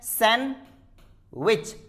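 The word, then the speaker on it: sandwich: अगर डी आता है before, if D comes with N, एन के साथ में आता है तो डी को हम बहुत बार साइलेंट कर देते हैं। एग्जाम्पल के तौर पर आप क्या खाते हैं? सैंडविच, नहीं, सैंडविच, सैंडविच। आपको सिर्फ इतना ही बोलना है, सैंडविच, डी साइलेंट करते हैं।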